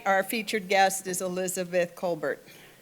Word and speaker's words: Kolbert: Tonight, our featured guest is Elizabeth Colbert. Not Colar, Colbert.